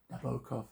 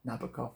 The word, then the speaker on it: Nabokov: The magician, Nabokov, as he said, you should pronounce it, not Nabokov.